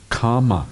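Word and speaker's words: kāma: It's not the same as kamma. It's two different words. Kama is one word. Kamma is another one. And kamma is spelled with double M, same as karma in Sanskrit. But kama is just only has a single M, but a long A in it.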